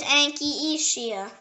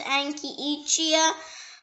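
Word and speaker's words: Anchietea: The next word is Anchisia. It can also pronounce Anchisia, Anchisia, or Anchietia, or Anchietia.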